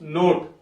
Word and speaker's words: note: of it not becomes note o o is saying its name so that's a very